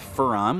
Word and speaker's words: Fon: to be confused with Fon which is my first name here although I've had my name mispronounce as faren on quite a few